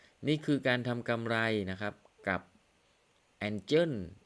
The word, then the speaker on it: Angel: การ ใช้ เครื่อง มือ engin อี้ ของ เรา นะ ครับ ang นะ ครับ ang ไม่ ใช่ engin โทษ ที นะ ครับ ออก เสียง ผิด Angel อินดี้ ของ เรา